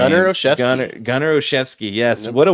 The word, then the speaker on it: Olszewski: Gunnar Olszewski.